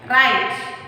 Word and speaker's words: write: Then write, WRITE, write.